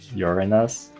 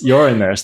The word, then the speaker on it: Uranus: How do we go to Uranus?